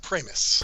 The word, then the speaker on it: Pramas: at premis p r m right uh it's pronounced pris pris excuse me I apologize uh he's on